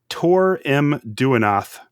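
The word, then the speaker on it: Tarim Duinath: This is a band called Tour M Duanath. That's spelled T A R-I M- D U I N A T H.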